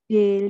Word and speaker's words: des: Des ya, kalau bahasa Indonesia yang bacanya des. Karena ini buku, bukunya banyak ya. Ingat-ingat lagi kalau plural itu biasanya ada s di belakang, berarti dia pakainya des. Des, kayak gitu. Dia bacanya de.